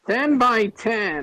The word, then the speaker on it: 10 x 10: gets lower all right 10 by 10 is your movie 10 by 10. the title says it is 10 x 10. that's how we pronounce it okay give me